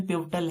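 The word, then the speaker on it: pivotal: Pronunciation पिवटल है, लेकिन इसको हम पढ़ रहे हैं पाई वोट।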